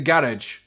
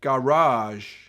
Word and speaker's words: garage: to put a car you put it in the garage that's how we see it in Scotland in America you see garage I think in England